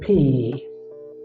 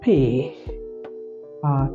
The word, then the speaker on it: pe: After our ani, we have our pay. Our pay. Some write with H, some don't write with H, but it's okay. It's pay. Pay. In terms of pay, take note of pay.